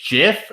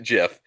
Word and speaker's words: GIF: it always was like the guy who created it say it was a jiff like he's right it's